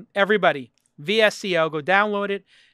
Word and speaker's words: VSCO: VSCO. VSCO. I'm just telling them how to spell it. It's VSCO like disco without the I.